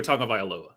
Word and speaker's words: Tagovailoa: Hey, I do well enough to do Tua Tagovailoa.